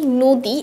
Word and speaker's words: নদী: সংবৃত উচ্চারণ হচ্ছে কি, আমরা যদি নদী এবং অভিধানটা দেখি, নদীর উচ্চারণ কি নো দি, অভিধানের উচ্চারণ কি আসে ও।